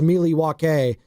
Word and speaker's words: Milwaukee: You know, Milwaukee is actually pronounced Milwaukee. It's Algonquin for the good land.